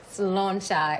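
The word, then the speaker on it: sláinte: Slauncher. How do you say it? Slauncher. It means good health in Irish. Slauncher.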